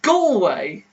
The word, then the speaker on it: Galway: hey go away school way go away it's pronounced galway denise settle this for us all right click